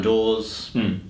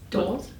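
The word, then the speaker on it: Deves: And then lead up towards it, you had the Solomon Islands security agreement, fumbles in Warringah, Catherine Dawes. Doors? How do you say? Catherine Dees. Catherine Dees, sorry, my apologies.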